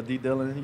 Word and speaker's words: D-Dill: A lot of people call me D-Dill or D-Dillon. You know, it's real laid back, chill is my name. So. It rhymes with chill.